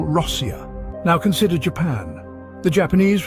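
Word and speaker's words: Россия: The natives of this vast nation call their country Rossia.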